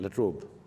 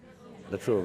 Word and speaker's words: La Trobe: I'm deeply grateful to the university, the La Trobe, do I pronounce it right? La Trobe. La Trobe, okay.